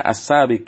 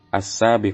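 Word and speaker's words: السابق: grup itu Muzakkar makanya ya dibacanya as-saabiq bukan asabe khotib nya te tumpuannya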